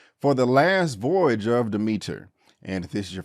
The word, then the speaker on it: Demeter: I kept saying the last voyage of Demeter, but it's actually Demeter.